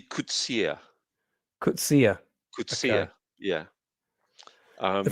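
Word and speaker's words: Coetzee: They completely mispronounce his name in this, so that's the one bugbear that I have about it. Because Is it Kotsway or something? no, It's pronounced it's actually Kutsia.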